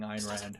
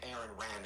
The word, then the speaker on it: Ayn Rand: I think he's just mispronouncing Ayn Rand. Conflicted on what Immanuel Kant and Aaron Rand have to Aaron say.